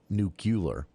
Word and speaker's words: nuclear: has everyone talking about nuclear power or you know nucular if you prefer that pronunciation uh it's it's something